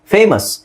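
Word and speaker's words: famous: ಅದರಲ್ಲಿಎಸ್ ಓ silent ಆಗಿರುತ್ತೆ ಸೋ ಇದನ್ನ ಹೆಂಗೆ ಹೇಳ್ತಿವಿ ನಾವು ಫೇಮ ಅಸ್ ಫೇಮಸ್ ಎಫ್ಎ ಎಂ ಯುಎಸ್ ಸಾಕು ಎಫ್ಎ ಎಂ ಯುಎಸ್ ಸಾಕು ಅಲ್ಲಿ ಓ ಅವಶ್ಯಕತೆನೇ ಇಲ್ಲ ಇದನ್ನೇ ನಾವು ಫೇಮಸ್ ಅಂತ ಬಟ್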